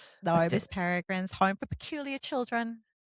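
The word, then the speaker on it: Peregrine: Ping Pang. No, it's Miss Peragrins. Paragrins. I keep saying that. I keep calling her Pering. No, Miss Peragrin's home for peculiar children.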